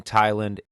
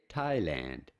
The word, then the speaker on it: Thailand: How do you go about pronouncing it? Thailand. Thailand. Pretty straightforward once you know.